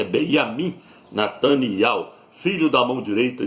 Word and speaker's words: Benjamin: o nome dele é Benjamin Nataniel, não é nem Benjamim, porque no hebraico não tem a letra J, não é Benjamim, é Benjamin Nataniel, filho da mão direita de Ial.